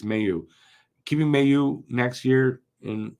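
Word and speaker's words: Mailloux: I'm going to say it right eventually it's Mayu keeping you next year in Laval I could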